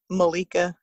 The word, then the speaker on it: Malaika: to find me and my name on there is malika but it's spelt like how you would pronounce it so m a underscore